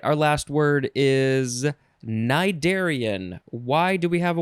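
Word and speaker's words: cnidarian: fart joke all right our last word is nidarian why do we have a word that starts with na it is spelled c-n-i d-a-r-i-a-n cydarian noun from circa 1909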